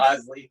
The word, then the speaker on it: Iseli: Isel, Iseli.